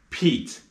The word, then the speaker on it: Pete: And the sounds of Pete are p, eat, Pete. And the silent E at the end of the word changes the sound of the vowel.